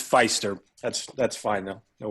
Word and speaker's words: Pfiester: right kai um it's feister that's that's fine though don't worry around here we pronounce it feaster but it is feister all right and he